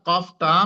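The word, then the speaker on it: قاف: তো সেই তালুতে আপনি আপনার জিহ্বার গোড়াটাকে ওখানে স্পর্শ করবেন। যদি আপনি সেখানে স্পর্শ করতে পারেন তাহলে আপনার কফটা বিশুদ্ধভাবে উচ্চারণ হবে।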